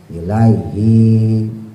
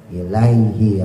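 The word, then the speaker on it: إِلَيْهِ: nnya tasdid tekan lagi ilaihi bukan panjang i-nya ilaiinya pendek ya kemarin juga masih banyak yang pakainya panjang ilaihi nah itu salah ya pendek ilaihi ro langsung annahum mulqu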